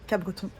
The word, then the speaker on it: Capbreton: Apparemment il faut dire Capbreton sans prononcer le P.